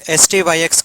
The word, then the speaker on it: STYX: So in this class we'll try to understand what is STYX code. It should be called as STYX, but just for pronunciation purpose we call it as Styx code.